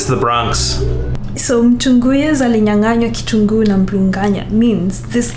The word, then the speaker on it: alinyanganywa: Mtu nguyas alinyanganiwa kitungu na mbringanya. Yeah, you did great. Apart from the alinyanganywa. I'm sorry, what? Alinyanganywa. Alinganyanywa. Nywa? Alinyanganywa.